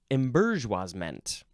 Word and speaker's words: embourgeoisement: You can also pronounce it embourgeoisement. Oh, and then, of course, this very Frenchy, probably most accurate way is, I'm not going to say it correctly, it's embourgeoisement. Embourgeoisement. That's close enough.